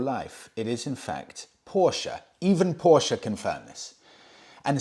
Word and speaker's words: Porsche: get it wrong and it's true I've been pronouncing Porsche wrong my whole life it is in fact Porsche even Porsche confirm this and similarly with Himalayan